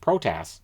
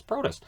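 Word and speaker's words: Protas: 8 43 or as was pronounced tonight on the tsn broadcast protests i'm like it's protist hey c c and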